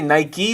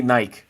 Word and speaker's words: Nike: chat do you say Nike or do you say Nike where I'm from we say Nike but I believe that Americans say Nike and I just learned